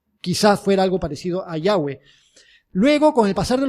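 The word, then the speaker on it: Yahvé: se quedan ahí y algunos eruditos dicen que es muy probable que la pronunciación fuera algo parecido a yagüe quizás fuera algo parecido a yagüe luego con el pasar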